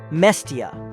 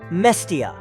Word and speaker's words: Mestia: Instead of the Svan pronunciation, Mestia, they often pronounce Mestia.